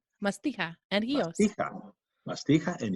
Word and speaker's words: Mastiha: how do you say it what's the right pronunciation Masti and hios mastia and hios yes uh in fact